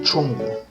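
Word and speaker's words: 中国: Y China, en chino no se dice China, sino se dice Chongguo.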